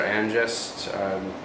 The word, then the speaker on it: Ainjest: you at the end it's pronounced I'm gesture I ingest the name of the company but this is very